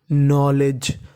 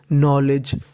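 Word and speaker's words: knowledge: आपको बता दूं कि अगर आपको कभी भी एन से पहले के लिखा मिले तो हमें के का उच्चारण नहीं करना होता हमें खाली एन का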